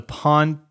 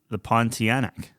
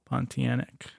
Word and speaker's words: Pontianak: The Pontiac. I don't know what that is. Pontiac? Yeah, Pontiac. Yeah, I don't know. Is that how you pronounce it? The Pontianak. Pontianak.